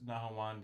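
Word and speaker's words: نهاوند: The minor pentacord is nawand. Uh, in Arabic it's nahawand. In Turkish it's navvent.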